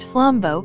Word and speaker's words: flambeau: The flambeau, pronounced flambeau, meaning flame torch, carrier